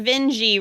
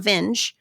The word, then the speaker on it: Vinge: the Deep by verer Veni rhyme with dingi I had to put that in my notes because I have such a hard time remembering if it's Veni now that I know it's not vinge then I get stuck